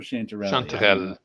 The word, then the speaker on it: chanterelle: and chanterelli good evening do you pronounce the e on the end of chanterelle is it chanterelle or chanterelle it's chanterelle it's french in french the french